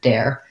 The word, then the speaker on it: dare: have the air diphthong so i'm going to start with air and add my d hair dare if you have trouble with air break it down even further and say it more like a air air um get your tense a and then move into your air and then dare there even though it's